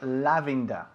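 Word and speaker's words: lavender: you fine good say lavanda in English lavanda lavanda kiii no it's lavenda okay lavend okay lavend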